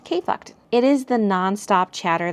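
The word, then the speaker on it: KFKD: titled K, it's titled KFK D, and it's pronounced KFucked.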